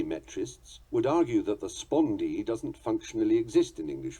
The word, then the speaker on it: spondee: The spondee is of equal stressed units. This also obeys its own definition in its pronunciation and is spelled S-P-O-N-D-E-E.